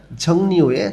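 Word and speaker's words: 종류에: সিরে গিয়ে আবর্জনার ঝংনিওয়ে, ঝংনি অর্থ ধরন বা প্রকারভেদ, ইয়ং বাচ্চেমের পরে যখন রিউল আসে তখন রিউলটা ন উচ্চারণ হয়।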